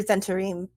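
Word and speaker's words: Zhentarim: pronunciation guide i i i hear zentarim as the pronunciation consistently so i'm i go with that just because that's what i hear a lot how do one is already too many it's got a silent h in it so the captions got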